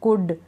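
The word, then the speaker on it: could: इन सारी स्पेलिंग्स में हम एल को प्रोनाउंस नहीं कर रहे हैं, एल को नहीं पढ़ रहे हैं, क्योंकि एल इसमें साइलेंट है।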